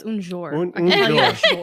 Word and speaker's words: un jour: Un John Un Rosé. It's like no, that's un jour.